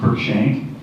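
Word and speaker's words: Cruikshank: the starting thing with me is how to pronounce all those letters so my name is kir shank and I'm currently the mayor of the city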